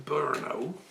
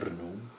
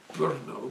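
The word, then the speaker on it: Brno: it was at the university in Burau. I'm probably not pronouncing that correctly. Berno, Bruno, BR RN O um with some very,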